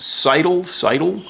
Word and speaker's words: Seydel: You might try a Seidel, S-E-Y-D-E-L, pronounced Seidel. They have steel reeds.